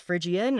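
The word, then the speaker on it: Phrygian: Or, you know, of course, they didn't pronounce it correctly, but I said, "It's frigian."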